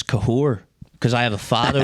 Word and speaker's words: Cathaóir: would have went hello cther well I know I've heard cath hello cther K the way you actually pronounce my name is kahor cuz I have a